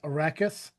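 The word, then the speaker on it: Arrakis: The most important planet is Arachus, a desert world. Did I pronounce that right?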